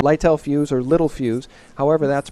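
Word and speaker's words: Littelfuse: people that recognized and they tell me it's pronounced little fuse and that they recognize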